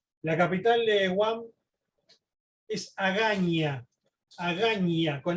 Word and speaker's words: Agaña: La capital de Guam es Agaña, con ñ. En inglés se escribe con N, pero se pronuncia Agaña porque viene justamente de cuando era colonia española.